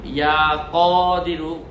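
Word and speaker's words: يا قدير: 12 দিনের প্রথম দিন সে আল্লাহ তাআলার গুণবাচক নাম ইয়া কদিরু, ক দরেশকার দি বসুনারস্কার রু, ইয়া কদিরু না যখন পড়বো, ইয়া কদিরু আরবির মতো উচ্চারণ, ইয়া কদিরু, একটু টেনে বলবো, ইয়া কদিরু।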